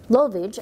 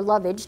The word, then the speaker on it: lovage: And it has garlic, celery stalks, cilantro, lovage, or lovage, depending on how you pronounce it, feta cheese, olive oil, and white wine vinegar.